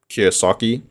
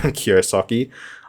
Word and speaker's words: Kiyosaki: So I just want to give a big shout out to Robert Kiyosaki. Okay, I'm hoping I'm pronouncing it right. Yeah, I'm pretty sure. Yeah, Kiyosaki.